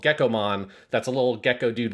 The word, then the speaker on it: Gekkomon: So he's a little gecko, and you have to call him Gekkomon. You have to extend that vowel out, because there's already a Digimon from the original Digimon called Gekkomon that's a little gecko